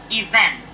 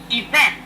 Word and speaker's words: event: Many students today mispronounce this word. It's a very simple word. It has to do with raising your voice and a certain letter.